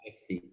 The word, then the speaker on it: Alessi: It's I'm actually, is a very Dutch name, and Alessi is Italian origin, but originally Dutch. I'm half Dutch, half Italian. But I've never lived in Holland, and I don't speak a word of Dutch. So actually, I pronounce it the Italian way, but I probably pronounce